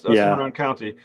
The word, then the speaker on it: Cimarron County: Now, when you think of of uh, uh, my pronunciation, Cimarron County, am I saying it correctly? Cimarron County. Cimarron County. That's That's Cimarron County.